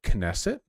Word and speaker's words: Knesset: individual's personal thoughts um pronounce the k and nesset knesset really okay and beliefs